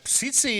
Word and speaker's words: Tsitsi: Tsitsi it is, pronounced Tsitsi. Tsitsi. Tsitsi, the first T is silent.